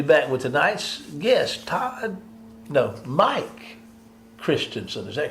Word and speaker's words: Christensen: That's Mike Christensen. Yes, it's not spelled S-O-N, it's spelled S-E-N. Christensen.